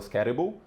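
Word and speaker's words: Skattebo: O T americ inglês americano é R, né? Então fala scatrible é difícil para mim, eu tenho que concentrar sempre que eu falo, em vez de falar scatable ou algo assim, mas é scatable, é uma proparoxítona.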